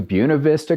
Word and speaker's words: Buena Vista: Texas about maybe 200 feet elevation up to Buena Vista Colorado and yes that's a correct pronunciation which is almost 8 000 feet of